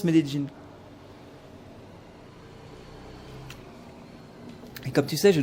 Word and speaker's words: Medellín: Je suis de retour à Medellín, parce qu'on dit Medellín, c'est le nom de la ville, mais on prononce Medellín.